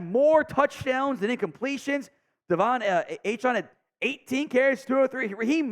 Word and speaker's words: Achane: He's changed pronunciation. I think it's Achane now, not A-Chain. He changed it, or at least asked to go by the proper one.